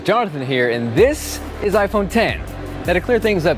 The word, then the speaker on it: iPhone X: yo guys johnathan here and this is iPhone 10 that a clear things up but yes it is spelled out i phone act the correct pronunciation just like final cut just like logic is iPhone 10 the number now this was the first Apple